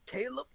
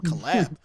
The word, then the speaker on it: Caleb: funny about it yeah you said it wrong it's caleb kaizer is that's the name caleb okay i've been saying that wrong for the whole time caleb caleb that sounds much better why am i calling him collab okay caleb caleb sorry